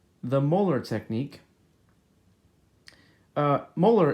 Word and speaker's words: Moeller: Molar is spelled Moeller, if you'd like to look this up for more videos on how to do it.